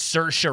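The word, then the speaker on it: Saoirse: the the famous actress Cersa Ronin, like her name is spelled like S A O R S I and you're like, where the hell do you get in there?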